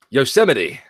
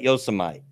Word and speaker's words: Yosemite: call yo so might Yosemite it is Yosemite but they call it Yosa might probably because that's how spelled yeah it's called Yosa